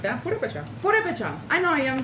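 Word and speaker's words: Purépecha: And ever since I found out that we were Porepechas. Don't say it like that. Purepecha.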